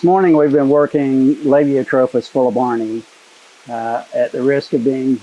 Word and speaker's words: fuelleborni: At the risk of being repetitive, since somebody criticized me for that, I say fuelleborni because the Latin terminal character there is an I, which in Latin is pronounced long E.